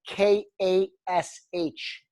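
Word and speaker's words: KASH: The Cash Talk, and it's spelled K-A-S-H.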